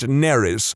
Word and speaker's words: Nerys: has the middle name nerys as in major Kira which would be fine except that it's spelled exactly the same as a Welsh name which is pronounced neris which is entirely not